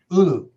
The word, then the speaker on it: ulu: How do you pronounce it, Al? Ulu.